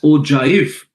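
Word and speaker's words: ogive: So it is O G I V pronounced as OJif.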